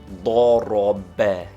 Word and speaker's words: ضرب: They form the Arabic word he struck, which is pronounced ضرب, with the accent on the last syllable.